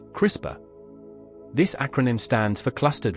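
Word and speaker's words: CRISPR: Much like building with Lego bricks, at the forefront of synthetic biologies capabilities is CISPR technology, often pronounced crisper.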